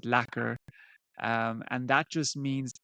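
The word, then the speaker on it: lekker: r um so you you pronounce it lacer um and that just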